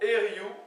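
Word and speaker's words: eoriou: Alors, ça ne s'écrit pas Eriou, ça s'écrit E-O-R-I-O-U avec un accent sur le U. Vous savez qu'en général, en breton, E-O, semble-t-il, le peu que j'en sache, ça se prononce souvent E. D'accord?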